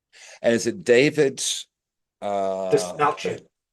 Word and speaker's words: Dastmalchian: Desmalchin. It's Melchin, not Melskian, because I've heard Yeah, both.